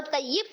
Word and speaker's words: طیب: لیکن طیب غلط تلفظ ہے اور طیب صحیح تلفظ ہے.